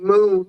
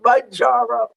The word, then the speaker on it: Mounjaro: So I've been saying Moon for so long. Candy K, once she got on Zepbound, helped us to pronounce, for those of us who were pronouncing it wrong, straightened us out by saying Mounjaro.